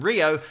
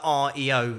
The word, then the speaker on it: REO: blackboard so they just changed the pronunciation from Rio to REO Speedwagon and that was it